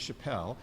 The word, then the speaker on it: Chappelle: confuse me with Dave Chappelle his name has an e on the end hence the French pronunciation of Chappelle my name has no